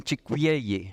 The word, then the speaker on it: chicueyi: Si quieren pronuncien chicuyeyi, no es fácil. Una cua y luego la ye.